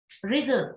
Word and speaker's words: wriggle: Wriggle, in this word W, you don't pronounce in wriggle, you don't pronounce W and E, which is at the end.